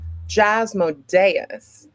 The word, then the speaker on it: Jasmodeus: Well, I am the one, the only Jasmodeus, accent on the E.